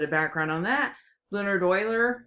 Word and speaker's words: Euler: a little bit of background on that Leonard Euler it's it's pronounced Euler but it's e ule our he worked with